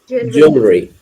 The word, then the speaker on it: jewelry: It's pronounced as jewelry. Jewelry. Okay. So write the name, write the word jewelry. J-E. It's the spelling of the word, and I will give and I will be saying the pronunciation name afterwards. Jewellery. It's the spelling of the word. Put a hyphen, and we will write Joolree.